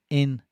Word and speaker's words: integrative: I used to use the phonetic alphabet to teach pronunciation. It would blow my students' minds. Integrative.